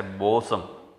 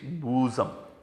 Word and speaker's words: bosom: to know this word don't say balsam it is bosom she's my bosom friend